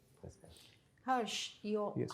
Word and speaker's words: Herrsh: Harsh, Yes, how do you pronounce it?